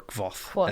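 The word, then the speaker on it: Kvothe: He does teach you how to pronounce quoth or kvoth, as I say.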